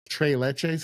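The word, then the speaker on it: tres leches: They also do things like t leches, I think is how you say it.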